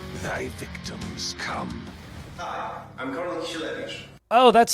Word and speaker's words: Karol Kisielewicz: Hi, I'm Karol Kisielewicz.